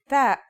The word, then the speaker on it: تاء: The pronunciation is like the English T, except you should release your breath with a strong burst of air.